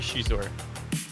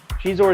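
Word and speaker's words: Xizor: How do you say Shizor? Do you say Shizor? Do you say Zizor? I think it's supposed to be Shizor. Shizor is how it is in the audiobook, so, you know.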